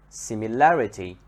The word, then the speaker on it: similarity: is at the beginning similarity similarity the stress here comes on the second part in the middle stupid